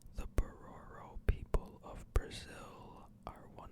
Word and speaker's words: Bororo: I think this is pronounced Bororo. The Bororo people of Brazil are one of the few groups of people where all have the same blood type.